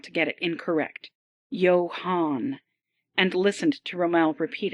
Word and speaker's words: Yoan: Here, the shipwright pronounced the name so as not to get it incorrect. Yo Han, and listened to Romel repeat it satisfactorially.